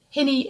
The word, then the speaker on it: hinny: called singing hinnies and hinny is a local pronunciation of the term of endearment honey and they're called singing